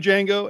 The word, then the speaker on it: Django: And I'm Django, and you can find me on social media by searching my name. The D is silent.